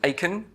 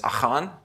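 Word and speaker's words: Achan: they catch the guy everyone calls him akin the correct pronunciation pronunciation of akin is ohon but a hard basically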